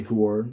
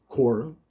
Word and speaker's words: Quora: ended up getting on kur uh i say kawar but i found out it's pronounced korra i looked it up because i was just